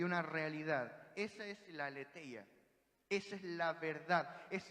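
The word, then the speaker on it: ἀλήθεια: Y la palabra verdad aquí en el griego es la palabra aletheia, o pronunciado más correctamente, aletheia.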